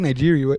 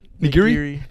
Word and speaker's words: nigiri: I like Nigeria better, though. I love Nigerians, too. I love Nigeria. How do you say it? Nigiri.